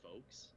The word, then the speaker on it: folx: it's a book that they well, whatever, and they wrote anytime they say folks, you know, like FOLKS, they spell it FOLX.